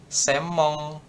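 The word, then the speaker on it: 専門: Kan ini kan harusnya senmong ya kita. Tapi bacanya semong.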